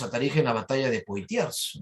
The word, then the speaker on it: Poitiers: eligen la batalla de poitiers no se pronuncia por ti como a ti pero su hijo pipino